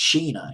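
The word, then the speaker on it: Chynna: the Beach Boys and China i believe it's pronounced Sheena Sheena it's see a chihuahua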